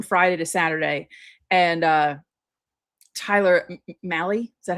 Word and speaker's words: Mahle: And Tyler Mahle, is that how you say his name?